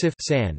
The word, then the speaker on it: CFSAN: The Center for Food Safety and Applied Nutrition (CFSAN), pronounced CFSAN, is the branch of the United States Food and Drug Administration (FDA) that regulates food, dietary supplements, and cosmetics.